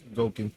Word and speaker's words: Gouken: Let's say you get your triple S Akuma or Evil Ryu, or now Gouken, how you pronounce it? Gouken.